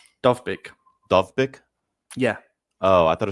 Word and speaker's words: Dovbyk: How do you pronounce his name? Dovbyk.